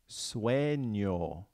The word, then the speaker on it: sueño: The next one is sueño, sueño, sueño. So you have that ñ sound in there. Now listen to the beginning. Sue, sue. So think about which vowels sound like ue.